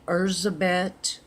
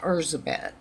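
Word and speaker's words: Erzsébet: of a Hungarian countess from the 1500s named our zabit Bathory quite often we used the term Elizabeth because that's the pronunciation of it in English but technically it was zabit now her brother was the king of Poland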